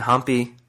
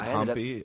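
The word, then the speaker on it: Hampi: was yeah I wasn't humpy when we left off is that how you pronounce it humpy or I think that's the proper way humpy that's that's how I've heard locals pronounce it Dy noted and long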